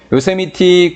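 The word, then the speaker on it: Yosemite: 자, 우리는 여행을 갔는데 미티라고 읽으면 돼. 요세미티 국립공원으로 여행을 갔어.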